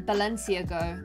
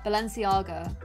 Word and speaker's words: Balenciaga: it was several years I used to call it like ba ba let Valencia go Valencia got Balenciaga Balenciaga I had no idea